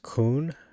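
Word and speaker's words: כּוּן: So it's pronounced kun, established, a city belonging to Hadarezer.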